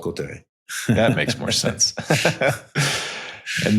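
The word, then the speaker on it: Cauterets: It's spelled like Catarouts is what it looks like. Cotteret. Yeah. It's called Cotteret.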